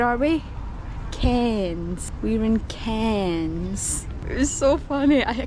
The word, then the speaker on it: Cairns: We're in Cairns.